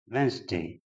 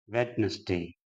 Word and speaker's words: Wednesday: as breakfast that is wrong next word is Wednesday and that also is pronounced wedness day that is incorrect and next word is vehicle